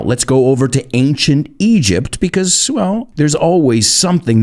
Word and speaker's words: Egypt: Oh, and I want to look at the pronunciation of Egypt. A lot of my students say Egypt. It's not Egypt, it's Egypt. And just think of the song, Walk Like an Egyptian.